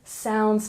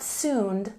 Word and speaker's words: sound: a look at pronunciation we've got sound not soon sound sound make a round shape with your lips sound and flawlessly we stress